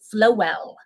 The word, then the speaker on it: Flowell: the pronunciation it is flowell did you say that I miss that flowell I love FL and he said as in flow well which is uh which